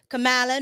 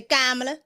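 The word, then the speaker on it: Kamala: Okay, I used to say Camala. Now I say Kamla.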